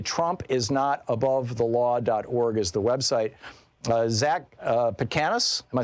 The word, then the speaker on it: Petkanas: Zac Petkanas, am I saying it right, Zac?